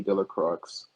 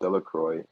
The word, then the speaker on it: Delacroix: Bobby and Harry Jones and Dickie Delacroix, the villagers pronounced his name Delacroix, eventually made a great